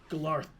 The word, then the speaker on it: GLAURTHP': Can you THP pronounce that for me apostrophe K? again? Yep. Glarth.